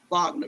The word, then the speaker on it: Wagner: It's spelled like Wagner, but it's pronounced Wagner Group.